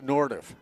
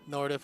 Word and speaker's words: Nordhoff: Is it Nordhoff or Nordhoff? I said it as Nordiff. Nordhoff, okay.